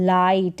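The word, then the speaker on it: light: जी एस टी आइट फिर यहां है लाइट इसको भी लिट नहीं पढ़ेंगे लिट नहीं पढ़ेंगे लिट होता तो एल आई टी होता और इसको राइट टाइट फिर यह है मिड ए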